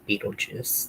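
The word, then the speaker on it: Betelgeuse: actually how you spell his name but it's pronounced Beetlejuice so that's why the spelling The EC second is what more like phonetically correct of how to pronounce it.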